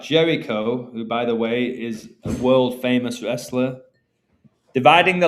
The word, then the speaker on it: Ai: utterly destroy the Canaanite city of Ai, which is pronounced I, like the eye of providence.